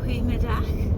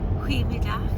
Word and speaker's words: goedemiddag: Goeiemiddag. Middag. Goedemiddag.